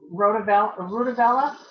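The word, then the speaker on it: RutaVaLa: for sleep go ahead janet i've been using rudabella yeah that's how you pronounce it yep and and that is almost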